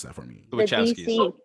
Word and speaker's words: Wachowski: I mean, it was a comic, but the screenplay was done by how to pronounce that for me? The Wachowskis. Wachowskis.